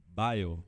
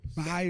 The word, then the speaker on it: Beil: Fala pra mim, como é que pronuncia de direito esse teu nome, hein? É Bale. Bale.